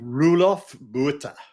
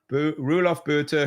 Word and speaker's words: Roelof Botha: How do you pronounce his name, Keith? Roelof Botha. Roelof Botha, who says venture is not an asset class.